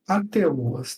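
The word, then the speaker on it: HATEOAS: estudo mais abrangente sobre o que chamamos de ATOAs, tá? O ATOAs se escreve AHTOAS, ATOAS.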